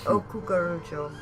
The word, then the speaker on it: Cucurucho: Yeah, I can barely say it right either. Don't. You're fine. It's Cucurucho.